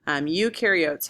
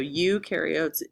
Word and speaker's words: eukaryotes: So you can remember eu rhymes with do. So eukaryotes do have all these things.